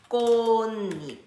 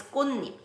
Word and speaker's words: 꽃잎: So it becomes 꽃잎. That's why. To explain it. Do I have to know all this? No. When you are learning a word, just make sure to learn the pronunciation together. And then if you have questions, then you can ask these questions. So that's why it's 꽃잎.